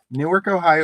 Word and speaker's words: Newark: Newark, Ohio is pronounced the same as Newark, New Jersey.